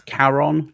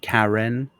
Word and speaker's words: Charon: That's Charon, not Karen.